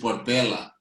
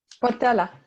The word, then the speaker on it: Portela: So we have Portela, or I don't know how to pronounce it. It's Portela. Portela.